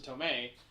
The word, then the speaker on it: Tomei: I was like, if you're gonna hire Aunt May, who is hire Marissa Tomei, her name rhymes with her name.